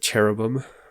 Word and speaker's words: cherubim: find it interesting that cherubim or kerubim i think is closer to the hebrew pronunciation but don't don't quote me on that replace adam and